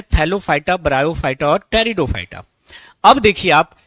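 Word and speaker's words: Pteridophyta: है उसका नाम है टेरिडोफाइटा यहां पर पी साइलेंट है टेरिडोफाइटा टेरिडोफाइटा क्लियर तो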